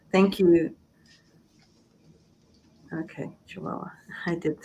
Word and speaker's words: Chihuahua: Chihuahua. Thank you. Okay, Chihuahua.